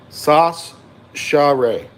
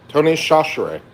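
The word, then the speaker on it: Tony Chachere's: It's pronounced sash share. Sasher Tony Shashere.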